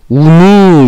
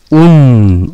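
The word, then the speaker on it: οὖν: 우누 이렇게 하는 게 아니고 운 이렇게 읽는 겁니다.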